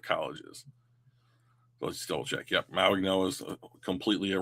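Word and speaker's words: Mauigoa: So, you have Francis Ma Noah, who I've been told the G is pronounced like an N, which I don't pretend to understand, but fine, it's his name. Um Francis Maigno and Spencer Fano.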